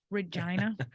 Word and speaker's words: Regina: Regina? Yes, Regina. That's how it's pronounced.